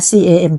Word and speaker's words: Camp: เป็น multibrand Store ค่ะ ชื่อ แบรนด์ ว่า น อ่าน ว่า แคม นะ คะ Camp ที่ รวม ร้าน ขาย